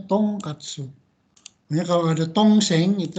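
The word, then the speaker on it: 豚カツ: Ini bacanya bukan buta katsu, tapi dibacanya tong katsu.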